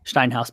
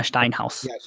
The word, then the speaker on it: Steinhaus: the ref was a stained house I think that's that's how you say it steinhouse Bibiana Steinhaus yes dine house so she actually refs